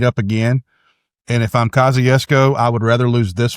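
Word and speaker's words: Kosciusko: Kosciuszko. That's it actually properly spelled out. That's pretty good. Went with the Polish pronunciation of it there. So that's right.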